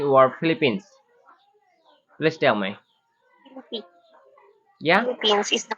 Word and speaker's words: Philippines: Philippines. Yeah. Philippines is the correct Oh, pronunciation.